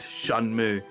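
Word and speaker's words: Shenmue: I just remembered that Tim Rogers said that shenmu is actually pronounced shanm why is it an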